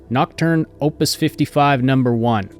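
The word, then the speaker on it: Nocturne Op55N1: and by the way the name of this quest is pronounced nocturne opus 55 number one it's the title of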